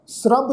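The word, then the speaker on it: ਸਰਬ: लहणा थपियो जेन सरब सिद्धि। इत्थे भी ख्याल रखो, शब्द है जी ससा, फिर ससे के पैर में अद्धा रारा, फिर बब्बा अखर। तो इस शब्द का पाठ उच्चारण करांगे सरब।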